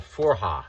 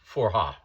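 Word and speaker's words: forró: region of northern Brazil and a music called Forha. It's it's spelled F O R O and and basically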